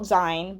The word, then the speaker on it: zine: So it's spelt zine, but it's pronounced zine. I was saying zine for a while until I watched some videos about it and was like, oh, it's zine as in magazine.